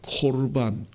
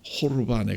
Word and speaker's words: 고르반: 오늘 본문에 나온 고르반이라는 제도도 거기에 해당된다고 예수님이 지적하셨습니다.이 이 고르반이라는 제도를 어 정확하게 말하면 코르반 호르반에 가까운 그러한 발음이 맞을 것 같습니다.